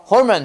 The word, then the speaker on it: hormone: 호르몬 아니고 Hormone. 해봐. Hormone. Hormone. 발음 외워야 돼.